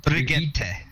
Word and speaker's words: Brigitte: No, it's Bridget. It's pronounced Brigitte.